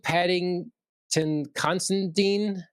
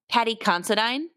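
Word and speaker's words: Paddy Considine: So, and Patting Constantine, how you supposed to say his name? Uh from House of the Dragon, the the king. Oh, Pat Patty Considine.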